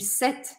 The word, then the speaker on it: cette: E aí, a confusão que às vezes as pessoas fazem é o seguinte: é que o som de set, set, é exatamente o mesmo som da palavra no feminino, que é a terceira que está aparecendo aqui na nossa lista.